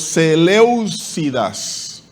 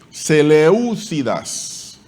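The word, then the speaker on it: Seléucidas: Y los Seleucidas. Seleucidas. Tilde en la E, en la segunda E.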